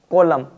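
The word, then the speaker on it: column: होना पड़ता है तो यहां पर आपके एन को साइलेंट रखा जाएगा एम और एन दोनों वर्ड साथ आते हैं तो एन साइलेंट रहता है जैसे यहां पर एम और एन साथ में है तो एम और एन साथ में होते हैं जैसे इसे पढ़ेंगे ऑटम कॉलम इस प्रकार यहां पर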